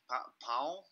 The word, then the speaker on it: pau: So how do you say stick? Pau? Pau. No nasal sound.